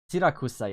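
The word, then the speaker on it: Siracusa: Sirakusa, yeah, that's how you pronounce it.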